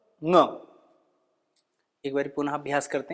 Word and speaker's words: ङ: इस वर्ण का उच्चारण करते वक्त थोड़ा सा ध्यान रखें कि ये कोई और ध्वनि नहीं है। शायद आपकी प्रादेशिक भाषा में या आपका कोई और अभ्यास हो, ये इसका उच्चारण है ङ। जैसे हम पंकज, अंकुर, अंकुश, जो अंकुर, ये इसके बाद अ का उच्चारण करेंगे ङ, ये इसका शुद्ध उच्चारण है।